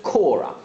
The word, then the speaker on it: Cora: itu v news that um i got the name wrong last time i did an update so it's cora crippen he was convicted in 1910 and he